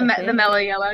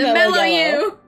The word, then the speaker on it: Mellow You: The Mellow You! It's actually the Mellow You, but I'm dumb, yeah. And I always mispronounce it, so I say Mellow Yellow because it's easier.